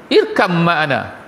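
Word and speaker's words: اركب معنا: Ya bunayya, wahai anakku, dia kata, irkam ma'ana. Bacaan dia tu kalau ikut asal irkab ma'ana, tapi bila bacaan dia pun irkam ma'ana. Gitu cara baca dia.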